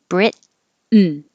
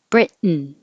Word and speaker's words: Britain: Americans don't pronounce the T here. They just make the tongue go to the T position. Britain, Britain.